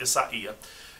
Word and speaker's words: Isaia: yellow and silver striped isaiah thai and that's the proper pronunciation is spelled like isaiah without an h but it's pronounced isaiah and then i have